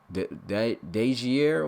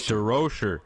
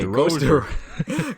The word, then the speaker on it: DeRocher: Coach Dejier, was it, man? I keep Dude, it's DeRocher. Okay, DeRocher.